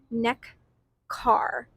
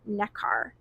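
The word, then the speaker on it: Nekar: And the Dutch version is pronounced neck car. Ne K a r. Necar.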